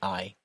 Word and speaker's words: Ei: We always pronounce it as we would say the second of those two letters in English.